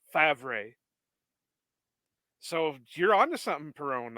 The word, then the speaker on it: Favre: My conspiracy theory, my biggest Packers name conspiracy theory is surrounding Brett Favre, because you explained to me how it's pronounced Favre the way it's spelled.